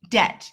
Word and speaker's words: debt: are ninja B so this word is debt debt you'll notice like I ignore the B I want you to